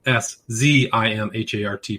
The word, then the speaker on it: Szimhart: His last name is spelled S-Z-I-M-H-A-R-T, pronounced Szimhart.